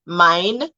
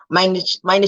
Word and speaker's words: mein: So my Name, EI is I. So mein Name ist.